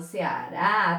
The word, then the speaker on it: Ceará: Agora eu vejo qual é a sílaba mais forte. Eu falo Ceará, Ceará ou Ceará. Haha, eu falo Ceará, tá aqui a sílaba mais forte, tá? Tenho a última sílaba como sendo mais forte, então ela é uma oxítona.